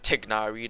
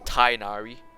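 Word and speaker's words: Tighnari: blame the scriptwriters like like tignari they made it tainari there you are really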